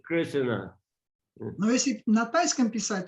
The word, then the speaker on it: Krishna: Krishna, because if you know how to pronounce Sanskrit, then it's Krishna. Если вы знаете, как произносить на санскрите, то это будет Кришна. And if you read it the way Thais pronounces it, Krishna.